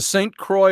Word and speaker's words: Saint Croix: did i pronounce that what is it saint quality or saint croix river the saint croix river they call it up here so that divides minnesota